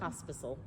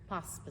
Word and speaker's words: Pospisil: Pospisil. Pops. Pospisil. It's like popsicle. I know, but not. It's Pospisil.